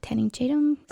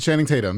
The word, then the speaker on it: Channing Tatum: watching this movie with Sandra bullar and uh tanning chadum say it right Channing Tatum yeah oh my God name j i side